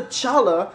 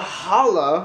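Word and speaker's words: challah: They asked for egg bread, which to the point, Alexa was like, ooh, get the challa. Valerie was like, no, it's called challa, which is true. But it's spelled C-H. So is Chanukah, Valerie said.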